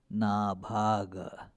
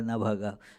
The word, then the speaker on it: Nabhaga: Uh, the way it is normally written in English would pronounce the same Nabhaga, Nabhaga. No, therefore I have put additional A's to show the difference.